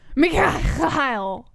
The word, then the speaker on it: Mikhail: Mikhail. You gotta say it like an angry Russian. Like Mikhail.